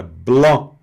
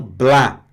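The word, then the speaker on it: blanc: Olha, não pronuncie o c, tá? Fica blo e não bla.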